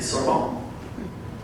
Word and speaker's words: Sorbonne: In her early 20s, she moved to Paris, France, where she studied psychology at the Sorbonne. That's how it's pronounced.